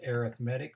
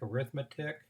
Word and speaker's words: arithmetic: we're going to talk about today are called arithmetic sequences and I know it looks like arithmetic but it is pronounced arithmetic who would guess the math is different arithmetic